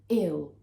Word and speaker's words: ill: The other one is one syllable, so we say ill, ill. We don't say ill, I'm ill. No, we say ill, ill, ill. Okay, we call this a dark L, but we'll come to